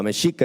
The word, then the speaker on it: Mexica: Uh, mashika is how you say Mexican.